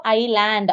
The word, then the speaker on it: island: ஐ லேண்ட் இதோட spelling ISLAND இப்படிதான் வரும். ஆனா சொல்றப்போ ஐ லேண்ட் அப்படின்னு சொல்லணும். 2வதா வர எஸ் அதுல சைலண்ட்.